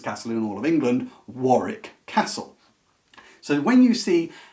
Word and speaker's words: Warwick: York and it's pronounced Warwick as our American cousins are very loyal to pronouncing all the letters whereas in England it's called Warwick because it's a bit